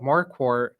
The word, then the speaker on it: Marquardt: So what they do is they think my first name's Mark and my last name's. Oh, how interesting. So they'll call me Mark. Uhhuh. Yeah. I say Markwart. Yeah. They they just totally don't even catch that I said.